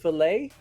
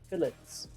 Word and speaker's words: fillet: Fish fillet. That's why like the fish without bone. It's pronounced fish fillets. What? Yes, but in America they're gonna say fillet because fillet is French, right? And then they're gonna use that. But in Britain, yeah, they're not gonna say it like that.